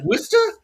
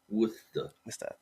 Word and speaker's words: Worcester: It's Worcester.